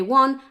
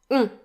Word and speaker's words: on: It's a nasal vowel sound. So don't pronounce the N separately, because it just makes one vowel sound.